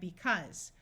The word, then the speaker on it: because: This AU is going to have a short U sound, even though it usually says so we have because.